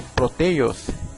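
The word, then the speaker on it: πρωτεῖος: ¿Sabías que el nombre de la proteína proviene del griego, que se pronuncia como proteios, y que este significa prominente o de primera calidad?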